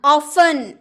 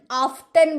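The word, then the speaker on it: often: ऑफन, ऑफ्टन बोलते हैं क्या?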